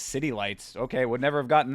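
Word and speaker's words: Zitilites: This was in 2004, so I would assume that that's from this album, Zitilities. Oh, pronounced as City Lights.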